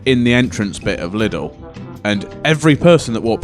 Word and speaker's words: Lidl: the well-known high street store that rhymes with Riddle. Right, okay. And it was the air ambulance, but twice I saw them, and they were stood in the entrance bit of Lidl.